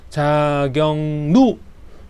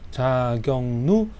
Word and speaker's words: 자격루: 츠구기 자격루 자경 경 그 뭐 경기도 할 때 경 그 경이에 발음이 자경누 누구 할 때 누가 누가 왔어 누누 누 자경누 등이 있습니다.